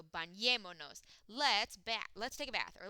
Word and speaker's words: bañémonos: And then we have to add an accent on the second to last vowel or second to last syllable of the verb itself. So the verb is bañemos. Second to last vowel is this E, so bañémonos.